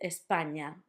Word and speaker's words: España: now, just remember that the ñ sound is basically the sound in your English lasagna. So, lasagna, for example, we say the main word that we have in with that ñ is España, which is Spain in English.